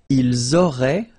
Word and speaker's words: auraient: vous auriez, and then, ils auraient, little link, but then look, A-I-E-N-T like that, and you only pronounce E, like we had here. It will be exactly the same pronunciation here.